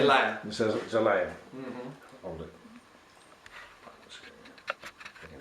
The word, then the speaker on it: Zelaya: Zelaya.